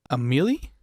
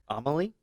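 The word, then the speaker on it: Amélie: of this movie, but I think it's pronounced Amelie. Amelie. Because it's got like the accent over the E. So, but I want to say it's like French.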